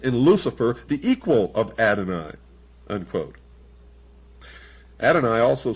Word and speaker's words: Adonai: would adonai the god of the christians and the jews